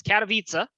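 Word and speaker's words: Katowice: wrong all all week i've been pronouncing uh it's katavitsa uh which is the first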